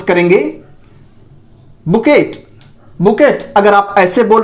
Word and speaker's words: bouquet: बुकेट। बुकेट अगर आप ऐसे बोल रहे हैं तो इट इज आल्सो रॉन्ग, यह भी गलत है। इसको आप बुकेट नहीं बोलेंगे, यह है आपका बुके।